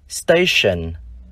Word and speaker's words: station: Nhưng trong hai danh từ còn lại, chữ T chúng ta lại đọc là sh. Ví dụ danh từ trạm, station.